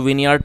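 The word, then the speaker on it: vineyard: आपको बता ही दिया इसको विनयार्ड पढ़ेंगे इसमें ई साइलेंट है और विनयार्ड का मतलब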